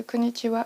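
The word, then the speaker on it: こんにちは: Par exemple, j'en avais aucune idée moi quand j'ai commencé, vu que j'ai commencé en autodidact, que le ha à la fin de Konhiwa se prononce wa et ça c'est le genre de détail qui est pas expliqué.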